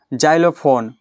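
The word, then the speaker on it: xylophone: अब आ गया गया ज के उच्चारण में जैंथिक जैंथिक मने हुआ पांडुर जाइलोफोन एक बाध यंत्र का ठीक है एक बाध्य यंत्र का नाम है जाइलोफोन क रहा एग्जामिन एग्जामिन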